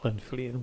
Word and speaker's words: Llanfyllin: So thanks to this gentleman who pronounced it properly for us, this is how you actually say Llanfyllin Workhouse. Great, Llanfyllin. One more time. You go for it. Llanfyllin.